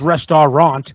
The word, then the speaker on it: restaurant: pronounced rest is it rest it's spelled it's pronounced restorant restorant and it's spelled rest uh rest a